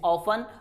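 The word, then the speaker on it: often: इट इज नॉट ऑफ्टन, इट इज ऑफन और listen.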